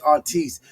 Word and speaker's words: artiste: An artiste is someone such as a rapper or a singer. It's spelled artist with an E at the end. Know what I mean? But it's artiste.